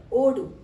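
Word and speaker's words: ಓಡು: with the pronunciation okay it's not a da it's a DA ODU Odo is a run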